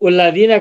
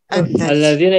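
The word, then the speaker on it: الذين: Kalau ini alladzina idza asabathum, bukan ulladzina kan? Alladzina idza asabathum. Ya, kalau alif lam itu pasti a.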